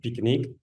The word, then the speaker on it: PQK: by the father of the pqk pronounced as picnic a methodology developed in